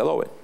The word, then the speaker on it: Adobe: Así se pronuncia, Adobe.